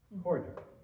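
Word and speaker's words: Koh-i-Noor: This is Koh-i Noor, Koh-i I-N-O-O-R. Coroner. Corner, yeah, it's spelled strangely, so.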